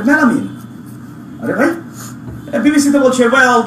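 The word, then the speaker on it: melamine: তো ও আমার পরে বললো, ও হয়তো বিদেশি ছিল, বললো এটা তো এটা মেলামাইন না, তো তোমরা তো ভুল বলো, এটা হচ্ছে মেলামিন, কয় কি আলামিন, তো এটা মেলামিন, স্যালাইন সাইলেন, বাইনোকুলার বিনোকুলারস।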